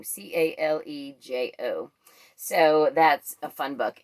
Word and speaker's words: Calejo: It is Ryan Calejo, I think is how you say his name, Calejo.